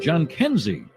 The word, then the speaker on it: Jhonkensy: I always put it down phonetically. I ask the other announcers usually. We talked to our good friend Tom Hamilton, and he said John Kenzie.